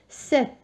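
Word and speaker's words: sept: دونك الحرف الساكن اللي نعمله هنا هو لو بي، ولكن لا ينطق، والحرف اللي ينطق هو هذا ت على فان. 7 داكوغ. هذا البي لا ينطق، هو متواجد ولكن ما نطقوش. يعطيني 7.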